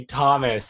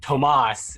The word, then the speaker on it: Thomas: You do get, like, I am properly Thomas in IRL, but I live in an area where like Tomas is a correct pronunciation that may happen, because that's like the Spanish pronunciation of Thomas is Tomas.